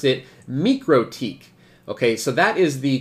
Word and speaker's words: MikroTik: and if you were actually Latvian you probably pronounce it me critique okay so that is the correct the official